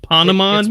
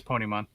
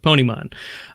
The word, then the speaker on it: Ponemon: even pronouncing it right is it like pond Amman maybe no it's Pony mom okay Pony Mon so the report is